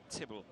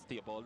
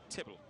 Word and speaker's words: Tibble: been talking about Denzel Tibble. His name is optional in terms of its pronunciation because it can be pronounced as Theobald as well. But the British pronounce it as Tibble.